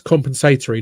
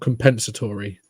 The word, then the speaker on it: compensatory: I get really annoyed how Americans pronounce that word. It's compensatory, not compensatory. Come on.